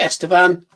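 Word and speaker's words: Estêvão: you got the Chelsea Chelsea, is it Estean? Yeah. Yeah. And you got it. Is that how you pronounce it?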